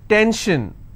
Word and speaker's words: tension: SION, tension, pension. So how many syllables in tension? 2. Tension, I will stress on 10.